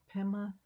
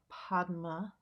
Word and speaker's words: Padma: Or if you were going to, I can't pronounce Sanskrit really, but if you're going to pronounce Sanskrit as it sounds, the Om Ahum Vajra Guru Padma Siddhi Hum.